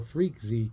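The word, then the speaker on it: freqz: going to use the the fr eqz or freak z command as it's often pronounced and this says we're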